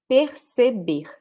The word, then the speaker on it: perceber: same in Rio or in the Northeast, people will say perceber. So the R, it's almost like a breath. Per, per. You see? Perceber. So this one and also the last one, they are pronounced the same way.